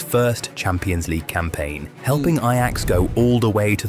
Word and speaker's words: Ajax: But the real highlight of his Ajax career came in 2000 Yo, I would have said Ajax if I did not if I did not know how they don't pronounce the J.